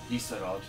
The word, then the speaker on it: Isarod: Isarod. I-S-A-R-O-D. That's helpful. Isarod. Yes, it is. Is a rod. This town is a rod.